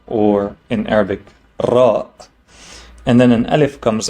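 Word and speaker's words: ر: Next is the letter Ra, which is pronounced like the letter R, but with a roll, right? We say Ra, we don't say Ra.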